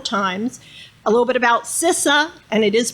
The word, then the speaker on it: CISA: repeat it several times a little bit about cisa and it is pronounced sisa um it's still we're really the the newest